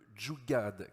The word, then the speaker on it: Jugaad: Alors, j'ai envie de vous demander, Navi, est-ce que l'hydrogène est compatible avec le Jugaad, qui est un mot indien dont vous allez me donner la signification.